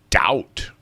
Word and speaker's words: doubt: show will be successful doubt and it's one of those bees in there again but it's silent yeah a silent B doubt I doubt it very